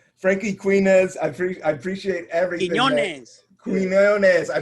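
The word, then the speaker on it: Quiñones: Did I say it right? Yeah, Quinones. Yeah, you got it, homie.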